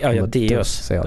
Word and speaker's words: Deus: Ja, det är så du uttalar det. Deus. Deus. Det är latin.